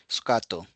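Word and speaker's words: スカート: so you can see the Katakana word sukato which is pronounced as sukato mijikai mijikai means short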